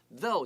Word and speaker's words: though: Though 就是不过的意思，不过不要光忙着去照相这件事情，那要做什么嘞？他继续告诉你了。